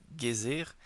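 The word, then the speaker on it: Geysir: Le GER, mot que les Islandais prononcent Gir et qui signifie fureur, s'élève majestueusement à son extrémité.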